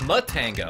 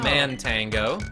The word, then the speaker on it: Matango: to Ben tango oh it's mutt tango it's not man tango I've been pronouncing it wrong the whole time yeah man tango is